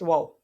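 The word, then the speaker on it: و: Next, wow. This letter heavy mud, so that's why this letter is being read by stretching the voice for 3 seconds. And this letter is pronounced by rounding off both lips.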